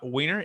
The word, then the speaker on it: Wehner: about our next guest we have uh weiner and weiner how much should i pronounce that correctly wayner's correct yeah you're good and rachel rachel marshall